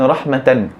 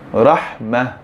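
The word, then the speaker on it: رحمة: Contoh perkataan rahmatan. Kalau kita nak berhenti, adakah kita baca dengan rahmata? Jadi kita membacanya dengan rahmah, bukan rahmata.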